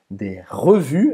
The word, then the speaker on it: revue: Revue, não vai pronunciar nem E no final, nem o S.